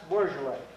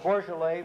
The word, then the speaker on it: Beaujolais: becoming quite popular at this moment, and that's Beaujolais. It's this little district just south of Burgundy proper. Don't ask me how they pronounce it, Beaujolais, from B-E-A-U-J-O-L-A-I-S, but they do, Beaujolais.